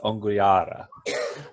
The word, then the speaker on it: Onguiaahra: The team name is Onguiaahra.